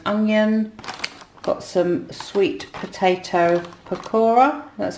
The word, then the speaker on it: pakora: inspired and caramelized onion got some sweet potato pakora that's how you say it um mediterranean falafels